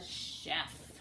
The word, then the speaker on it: chef: food he is a chef and chef has the S sound at the end of the word chef I know we've talked